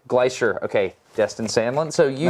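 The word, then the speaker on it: Gleicher: Glacier. Glacier.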